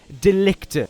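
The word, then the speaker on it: de Ligt: I believe his name is pronounced Delicte, like delete by Matt Hardy, but there you go.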